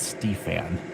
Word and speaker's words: Stefan: It's Stefan. It's clearly how his name's pronounced.